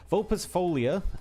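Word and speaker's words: Vulpisfoglia: It's pronounced Vulpes Folia. Or Folia. So the L and I are also kind of silent. They're like weirdly mixed together. Oh, Italian, man.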